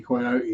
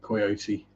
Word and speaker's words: coyote: do it and yes we do pronounce it coyote here not coyote because there's no I in it or an e at the start yeah so how do